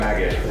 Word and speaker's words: Maged: That's how you pronounce it? Yeah, Maged.